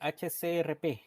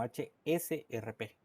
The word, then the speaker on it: HSRP: Algunos dicen HCRP y no es HCRP, sino HSRP.